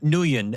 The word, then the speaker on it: Nguyen: names from the area of the world, like Nguyen, Nguyen is pronounced Nguyen, so I should have known that, and I made a mistake on that.